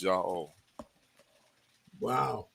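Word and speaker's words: Yahweh: me showing you that the only correct way to say his name is yah wow and so you got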